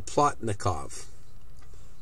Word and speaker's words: Plotnikov: Plotnikov.